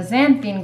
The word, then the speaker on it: xanthan: And then the xanthan gum, you wanna do about half. What, my pronunciation? There's no I, just xanthan. Oh, right, xanthan.